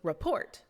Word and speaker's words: report: we say amuse amuse the word report goes report unstressed syllable stress syllable the word delight I